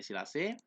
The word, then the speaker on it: silage: Berikutnya adalah silase, ya, tulisannya itu silage, bacanya silase, yaitu hijauan pakan ternak yang disimpan dalam keadaan segar dalam alat yang disebut dengan silo, tempat penyimpanan.